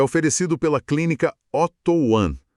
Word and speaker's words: Oto One: Este é um espaço de informação, de cuidado, que é oferecido pela clínica Otto One, pronunciando certinho, Otto One.